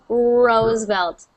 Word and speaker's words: Roosevelt: Belt ose yes roselt Rosevelt Rose good good so see how far back my tongue is when I make that R sound yes okay yours is